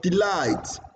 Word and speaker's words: delight: Now you have the word delight. Delight. Light is higher, longer than D.